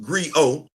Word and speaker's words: griot: The T is silent. The living, breathing historian of Wakandan history. To fully appreciate that, let's define what a Griot is. A Griot, pronounced Griot, is a West African oral historian, musician, storyteller, and poet.